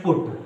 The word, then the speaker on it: put: लेकिन इनका प्रोनाउंसिएशन अगर बात करेंगे तो ये अलग अलग होता है। जैसे ये इसको हम कह देते हैं पुट, इसको क्या पढ़ते हैं पुट, लेकिन इसको क्या पढ़ते हैं बट।